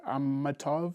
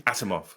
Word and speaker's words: Asimov: classic sci-fi novel by isaac ammatov i'm sorry if i've been pronouncing any correctly asimov atomov yes thank you uh so his